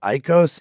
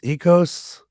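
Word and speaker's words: Ikkos: Is it Icos? Ecos? I think it's Ecos, Order of Ecos. Is it Ecos? Yeah. I think ecos.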